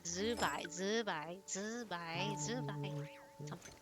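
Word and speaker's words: Zibai: You end up saying poop in Chinese, but it's like Zai Zubai. Zubai, but it's spelled Z I B AI.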